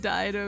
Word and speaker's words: Dido: Her name is pronounced Dido, you hentais.